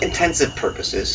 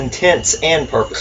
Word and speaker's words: intents and purposes: It's not intensive purposes. No, it's No. intents and purposes.